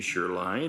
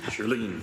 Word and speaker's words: Charlene: is Charlene or maybe sherline from Acorn in-person delegation did I mispronounce your name uh it's pronounced Charlene Charlene thank you very much